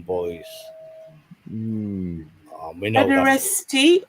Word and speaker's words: pederasty: We know that Pederasty or pederastry? pederasty. T, right? PEDERASTY. Ah, right. So it's spelled PEDERA pederasty.